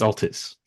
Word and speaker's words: Altis: doesn't matter the per the correct is Altis Altis right yeah okay I'll